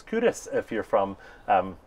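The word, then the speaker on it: Kirkcaldy: places in five um one is cudas but it's spelled k Ros and every you know even even folks from from Glasgow you know they didn't know it's cudas if you're from um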